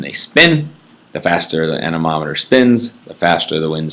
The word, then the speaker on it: anemometer: a tool called an anemometer you have to know how to spell that and you have to know how to say it it is not a menomonemer it is nominal it is an anemometer it's the little thing